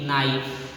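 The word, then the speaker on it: knight: होता है आपको के, किसी भी वर्ड में शुरुआत में के एन से वर्ड स्टार्ट हो तो यहाँ पे के जो होता है क्या हो जाता है, साइलेंट हो जाता है। जैसे कि नाइट, नॉलेज, नॉक, नीड, नी,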